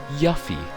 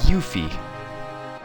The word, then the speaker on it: Yuffie: I always said Yuffie. Apparently, the pronunciation of her name is Yuffie. I don't know.